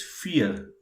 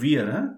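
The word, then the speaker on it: vier: okay yeah we'll proceed four is fear make sure make sure it is not weird it is fear yeah please pronounce everybody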